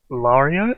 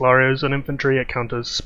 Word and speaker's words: Lareo: new commander which is lario i think is the correct pronunciation and his stats are